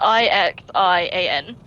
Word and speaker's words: Ixian: n is it the ixion yeah yeah so it's a dumper yeah that i x i a n it's just pronounced ixian like i i c k x but yeah you got